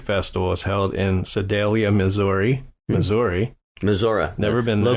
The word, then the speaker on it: Missouri: July 19th to 21st, the Ozark Music Festival is held in Sedalia, Missouri. Missouri. Never been there. Locals say Missouri.